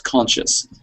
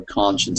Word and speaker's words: conscience: And I was hearing that word as conscious. So we need to hear that n sound at the end for conscience, so it's absolutely clear.